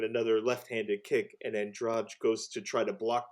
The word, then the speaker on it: Andrade: How do you pronounce? That's Andrade from Brazil.